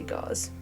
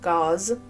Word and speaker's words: Gause: It actually rhymes with laws and she has citations.